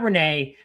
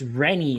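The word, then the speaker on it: Rennie: It's cuz it's not Renee. It's Renie is how they say it in the movie.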